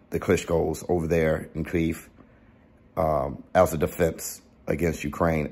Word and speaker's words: Kyiv: So, if you don't know, which I believe you guys do know, the Klitschko brothers immediately defending Kyiv, which is the Ukrainian pronunciation of the capital of Ukraine, which Vitali Klitschko is the mayor of, picking up arms, defending the Ukrainian capital.